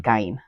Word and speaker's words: Gein: We're calling it Gein because we're in America and that's kind of how we pronounce things. However, if we were to go with the German saying of their name, it's Yeah. actually Gein.